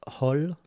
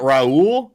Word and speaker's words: Raul: I just want to point out it's pronounced Hol. He's one of our new Discord trolls. Who? It's not Raul. No, it's Hol.